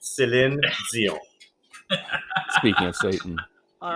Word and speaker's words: Céline Dion: But I can really say well, and I'll say it once and only once, is Céline Dion. Because I know y'all Americans don't say it properly, and that's how you say it. Céline Dion.